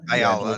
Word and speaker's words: Ayala: Ayala? Ayala.